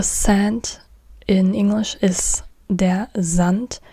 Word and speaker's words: Sand: in English is the Zant again it's it's not there s but Zant Z not s but Z there Zant there Z and so